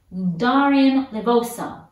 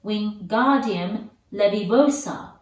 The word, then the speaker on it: Wingardium Leviosa: Wingardium Leviosa, he shouted, waving his long arms like a windmill. You're saying it wrong, Harry heard Hermione snap. It's Wingardium Leviosa. Make the ga nice and long.